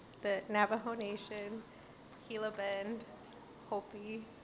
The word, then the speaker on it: Hopi: Is it Hoppy? San Carlos, San Juan, White Mountain. Is it Hopi? Yeah, Hopi.